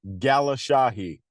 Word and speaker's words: Galeshahi: PR everyone calls me so it's pronounced Gala Shahi yeah I would have butchered it Gala Shahi it's funny because we've been on how many